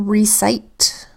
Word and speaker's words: recite: First syllable, re. We've got the R that says followed by the E that makes the long E sound E, because it's in an open syllable, not closed in by a consonant letter. Second syllable, cite. Starts with a C that makes the soft C sound S, because it comes before the letter I. The I makes the long I sound because it's in a syllable with silent final E.